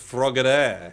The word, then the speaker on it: Frogadier: It's pronounced Frogadier. It's French. I didn't even realize that.